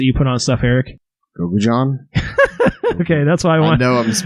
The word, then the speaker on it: gochujang: Yeah, I had that typed down in my notes here because it's gochujang. Is how you're supposed to say it. Gochujang, not gochujang. Gochujang. I just had a funny little. I was like, gochujang.